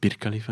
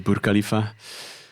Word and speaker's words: Burj Khalifa: And the Burj Khalifa, I pronounced it wrongly. I said Bir Khalifa in the previous episode. Oh. Apparently it's Burj Khalifa.